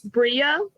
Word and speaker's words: Brea: It's Brea, like Brea. rhymes with Maria.